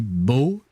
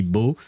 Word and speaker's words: beau: Like, it would be bo in French. For uh for a dude it would be bo written B E A U and bell uh for